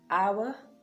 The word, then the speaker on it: hour: again all right so the letter h is silent in honest honor hour it is also silent after